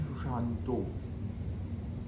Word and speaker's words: Sushanta: And see, the Bengali people will pronounce in a different way. Like if you go to Bengal, though the word is Sushanta, you ask any Bengali person if his name is Sushanta, it is Sushanto.